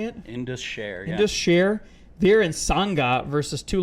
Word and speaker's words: Indus Sher: Indus Sher.